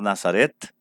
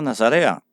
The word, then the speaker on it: Nazaret: Estos son todos los nombres, ustedes vamos a encontrar siempre que se puede pronunciar Nazaret, o se puede pronunciar Nazarea.